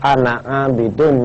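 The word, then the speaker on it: أَنَا: kalau kita membacakan wala Ana ma abadum ya padahal Ananya itu kan panjang tapi wajib dibaca pendek wala anaidum Ma abattum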